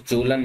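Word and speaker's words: Kjølen: These are known as Jolan mountain range guys. Jolan mountain. Basically K भी इनके आगे लगा होता है. K is silent.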